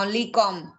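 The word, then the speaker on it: comb: pneumonia like this क कॉम हम इसको कॉम बोलते हैं बट बी प्रोनाउंस नहीं होता ओनली कॉम क्या होता पता नहीं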